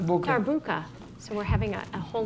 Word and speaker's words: darbuka: clarinet, and Roger, I don't know how to pronounce your instrument either. Kashou. Yes, but his instrument, the Darbuka. Darbuka.